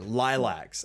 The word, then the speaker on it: Laylax: instead of L8 there you go definitive answer lilacs and I still mispronounce it so what's new in the word